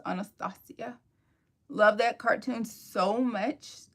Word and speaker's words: Anastasia: it was Tiana, then, Anastasia, or Anastasia, depending on where you're from. The name is actually pronounced Anastasia.